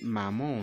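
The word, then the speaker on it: 妈妈: Comment on dit maman en chinois? Maman en chinois, c'est aussi pratiquement la même chose qu'en français. C'est la prononciation qui diffère. Maman, c'est mama. Mama.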